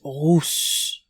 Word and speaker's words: rousse: Red-haired has the OO sound coming from the stomach and throat, rousse, versus the pinched U sound in russe coming from the nose, russe.